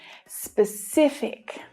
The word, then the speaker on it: specific: Specific. The stress is on the middle syllable here. And there are two things to pay attention to with this word. One is the consonant cluster at the start of the word. The consonant sounds S and P together.